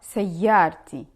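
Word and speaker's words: سيارتي: In this case, we take away the ta marbuta and we use normal ta at the end and we pronounce it as ta.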